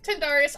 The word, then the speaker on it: Tyndareus: I want to say it's Tydarnius, but I don't know if that's... pronunciation. Yeah, Tindarius. Tindarius or Tindarius. Okay, Tindarius.